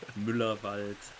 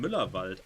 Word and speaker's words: Müllerwald: The trick is just pronounce it exactly the way that it's written. Mm-hmm. There are no silent letters in there, no silent vowels, nothing. It's just exactly as it is written.